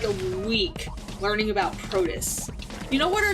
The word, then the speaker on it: protist: Protest, I thought. Protist? I thought it was T-E-S-T, protist. No, I think it's protist.